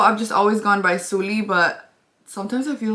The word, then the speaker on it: Suli: So I go by Suli, but a lot of people pronounce it Sully, which is okay.